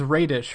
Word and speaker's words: Raedisch: and your last name is Raedisch, right? Is that how you say that? Yeah, you pronounced that good, too, yeah.